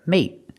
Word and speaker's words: mate: present is mate we use a stop T at the end put the tongue up and stop the air mate and the continuous action